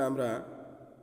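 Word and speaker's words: أَ: এখন উচ্চারণ হবে আ।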